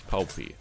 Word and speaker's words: Poppy: It's not pronounced poopy. It's Poppy.